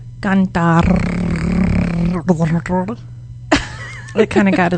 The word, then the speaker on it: cantar: So in Espanol, it's cantar. Cantar. Canta. Good. Ah, Good. If you can, you can practice. And it's a simple word, but you can practice rolling your R's with this word. Cantar.